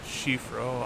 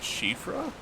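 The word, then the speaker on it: Siofra: Shifro Aqueduct. Going with Who that was? Prism? I was discussing that with? Or, apologies. My brain's gone fuzzy. Apparently the pronunciation of that is Shifra?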